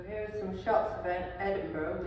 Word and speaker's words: Edinburgh: are some shots of Edinburgh which is pronounced Edinburg not Edenberg is the capital city